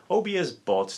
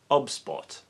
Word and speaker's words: OBSBOT: going to talk about a very special webcam obs bought tiny 4k it's been pointed out that i'm pronouncing it incorrectly and the correct pronunciation is obspot and i've been waiting for the release of